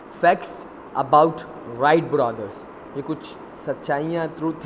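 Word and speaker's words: Wright: हम डर राइट brothers राइट brother कहते हैं इसको ब्राइट नहीं पड़ेगी फिर मैंने बताया जब यह साइलेंट है खैर राइट ब्रदर्स डिडंट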